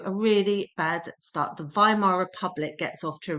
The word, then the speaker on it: Weimar: Therefore, the decision was taken to meet in the me more peaceful surroundings of the town of VHimar. So the W is pronounced as a V vhimar and it's that setting that gives its name to the government the VHimar republic.